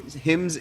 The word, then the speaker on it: Hymns: it at the beginning I said it wrong said hims of now everyone's gonna make fun of me in himms in dissonance yeah in like the